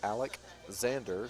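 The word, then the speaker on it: Aleczander: It's Alec Zander, so it's spelled A-L-E-C and then a Z in there. Alec Zander.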